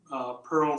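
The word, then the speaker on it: purl: This poem features two homophones pronounced pearl, the gem pearl, and pearl spelled P-U-R-L, which means the soft sound of water in a stream or moving over sand at a beach.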